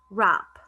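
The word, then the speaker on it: wrap: we have app so what are the two missing letters one of them is silent and the other one is the combination it is w and r rap next one wrists wrists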